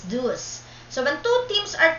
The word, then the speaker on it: deuce: this what we call deuce pronounces d-o-o-s and this will be